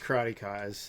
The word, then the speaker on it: Karateka: No, like, go it is pronounced Karateka, as he's probably trying to tell you, Oh.